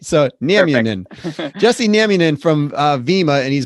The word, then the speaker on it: Nieminen: i got it right all right so jesse naminen from uh vemma and he's been so uh